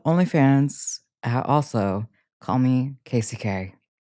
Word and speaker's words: Kasey: My name is Casey, pronounced K k a s e y k e i.